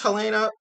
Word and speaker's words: Halyna: I think it's Helena, but her name is spelled Halyna, and I'm really sorry if I butchered her name.